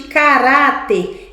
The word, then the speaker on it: caráter: Qual é a penúltima? Rá. O ra é mais forte, é caráter.